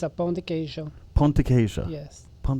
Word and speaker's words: pão de queijo: Pronounce it again. It's a pão de queijo.